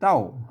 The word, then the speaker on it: เต้า: โย นะ ครับ อ่า ตัว นี้ อ่าน ว่า เต้า นะ ครับ เต้า นะ ครับ อ่า เนี่ ๆ ๆ ๆ ๆ ๆ อ่าน ว่า เต้า นะ ครับ เ ๆ ๆ เต้า ไม่ ใช่ เฒ่า นะ อ่า เ ตัว อัน